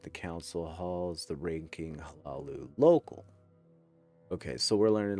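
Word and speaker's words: Hlaalu: None of the Hlalu. Is that the pronunciation you go with, V? Hey, how you doing, Bobby? Hlalu. Yeah, you honor the H.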